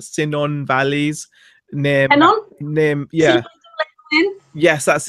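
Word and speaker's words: Cynon: They're from the Hinnon Valleys. I don't know if that's how you pronounce it or not. Sinon Valleys near yeah.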